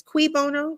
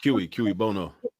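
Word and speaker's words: cui bono: studied Spanish and Japanese it's quono or how do you say that no K Bono you gonna make a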